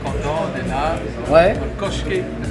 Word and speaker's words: Köşk: Je sais c'est marqué Kosk, mais moi je le prononce à la turque, Köşke.